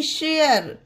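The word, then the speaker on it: share: आर E mayor S एच ए आर ई शेयर डी ए आर ई डेयर डब्लू ए आर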